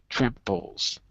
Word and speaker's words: tramples: Tramples. So the stress is on the first syllable.